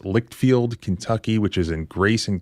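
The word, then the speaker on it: Leitchfield: can do all of these things be entertained pronounced lickfield Kentucky which is in Grayson County now this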